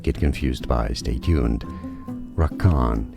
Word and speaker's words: Rakan: confused by stay tuned Rak Khan is how it's usually pronounced in the game rakan rakan it's easy and